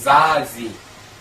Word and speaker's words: Zazie: 그래서 프랑스 여가수 중에 유명한 여가수 중에 이름이 ZAZIE라는 여가수가 있어요. 이 발음이 자지.